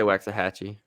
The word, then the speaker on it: Waxahachie: I say Waxahachie? Waxahachie. Yes, it's spelled that way, so I'm gonna say it that way.